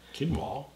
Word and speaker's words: quinoa: Quinoa? Quinoa with the Q. It's quinoa.